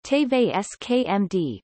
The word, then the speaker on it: TV5Monde: TV5Monde French pronunciation, TVSKMD, formerly known as TV5, is a French pay television network, broadcasting several channels of French-language programming.